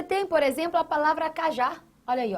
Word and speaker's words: cajá: Você tem aqui, ó, cajá, você tem uma oxítona porque a sílaba tônica da palavra se encontra na última posição, na última sílaba. A última é que recebe essa tonicidade.